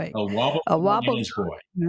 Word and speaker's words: Wobblegong: And it's called the I got to pronounce this right. Bobblegong. And his boy. A Wobblegong and his boy.